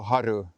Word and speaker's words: Haru: archipelago is called Gro Haru and uh even the sheer fact that you pronounce it with short vowels. Haru they don't do that in Sweden.